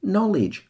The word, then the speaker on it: knowledge: Common knowledge. Com and no receive the stress there.